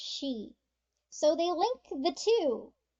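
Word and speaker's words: 死: let me explain that for is pronounced she and death is also pronounced she so they link the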